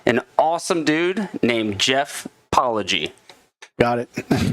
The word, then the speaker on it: Palhegyi: studio with me an awesome dude named Jeff poy got it that's right pronounced it right yes I actually right before